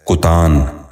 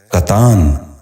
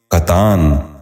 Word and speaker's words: کتان: غور سے سنیے، کالک۔ دوسرا لفظ ہے کتان۔ یہ غلط تلفظ ہے، درست تلفظ ہے کتان۔ دوبارہ سنیے، کتان۔ بچوں آپ بھی غور سے سنیے، کتان۔ تیسرا لفظ ہے کتبہ۔